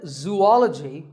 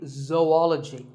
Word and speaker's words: zoology: do you say it if you said zoology it's actually wrong that is a very common mispronunciation this is actually zoology though and ecology zoology number 42 is develop this